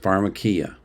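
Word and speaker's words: φαρμακεία: If you look at the Bible in the Greek, there's a word in the Greek that is pronounced pharmakia.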